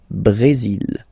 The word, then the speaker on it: Brésil: Okay, you will pronounce the final L here, and then remember accent aigu goes like E. Brésil.